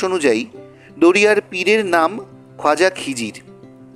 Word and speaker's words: খিজির: সেই থেকেই নাকি অঞ্চলটির নাম হয়ে যায় কিডারপুর, তা থেকে খিদিরপুর। এই অঞ্চলে দীর্ঘদিন ধরে ইসলাম ধর্মাবলম্বী মানুষের বসবাস। মুসলমানদের বিশ্বাস অনুযায়ী দরিয়ার পীরের নাম খ্বাজা খিজির। খিজির ফার্সি শব্দ। আরবি ভাষায় খিজিরের উচ্চারণ ভেদ খিদার।